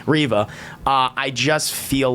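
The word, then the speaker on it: Reva: of people out there but the the the revit character and it's not mostly room's fault excuse me yeah excuse me i have to say it correctly riva uh i just feel like there's so much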